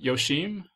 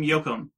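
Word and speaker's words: Yoachim: Carolyn M. Yoshim? Carolyn M. Yoakum. Yoakum, okay.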